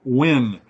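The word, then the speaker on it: Nguyen: question is from hung win now that his last name is ngg ye n and as teachers I had a couple of families with that name and they pronounce it wi which I could never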